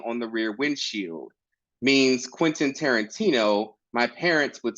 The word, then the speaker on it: Quintin: roll call or for job interviews but still quinton's or quintans or quintin's when Quinton lives right there in the email handle Google calls me quintis a fifth of whiskey or lazy speakers who